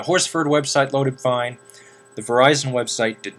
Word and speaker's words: Verizon: easy to pronounce um words some words like Verizon it pronounced as verison but you know that's typical anyway I have